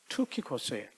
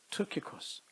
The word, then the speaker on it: Tychicus: His name's 영어로 말하면 Tychicus 뭐 이렇게 발음을 하는데 그리스 말은 우리나라 말과 더 비슷합니다. 그리스 말은 Tychicus예요. Tychicus.